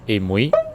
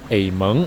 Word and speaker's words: Amoy: 1: The name of the city in English -- 'Amoy' Should actually be pronounced as 'Ei-Mui' 2nd.: However, it is not the local accent Instead, 'Ei-Meng' is the real local